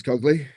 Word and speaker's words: Cogley: Josh Dacres Cogley rhymes with Alan Ogley.